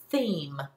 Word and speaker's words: theme: When I add a silent E to the end, it now becomes a long E, and the word is changed from them to theme.